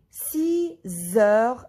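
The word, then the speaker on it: six heures: 6 o'clock, il est 6 heures.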